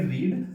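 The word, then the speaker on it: read: तीनों फॉर्म्स लिख दिया इसको पढ़ेंगे रीड लेकिन दूसरे वाले को जैसे पढ़ेंगे उसको पढ़ेंगे रेड और इसको भी हम पढ़ेंगे रेड ना के रीड लेकिन स्पेलिंग तीनों की से है हम देखते हैं कुछ लोग गलती करते हैं क्या पढ़ने हैं रीड रीड जी ने लिखा से जाएगा लेकिन बोला जाएगा रीड रेड रेड एक बार बोल के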